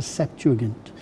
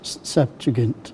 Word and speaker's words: Septuagint: bit of Greek, okay, I was told that a G was a G. It's a gamma, and it's a hard. It's not J, it's G. And so whenever I pronounce Septuagint, I say Septuagint.